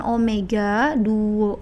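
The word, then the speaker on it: ω: ini cara memudahkannya tapi W itu dibacanya Omega ya R * Omega Nah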